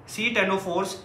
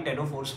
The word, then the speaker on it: ctenophores: तो तीन लोग radial symmetry दिखाते हैं, कौन कौन से, cylindrates, सी टेनोफोर्स, या फिर सी टेनोफोर मैं बोल रहा हूँ, इसको खाली टेनोफोर्स बोलते हैं, सी इसका साइलेंट होता है, एंड एकाइनोडर्म्स, ठीक है, ये रेडियल सिमेट्री दिखाएंगे।